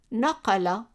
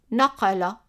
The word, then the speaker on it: naqala: And as an example, I picked naqala, and we have a Q here. Remember, the Q represents the kaaf, which is like a Q pronounced in the back of the throat. Naqala, naqala, and that means to copy or he copied.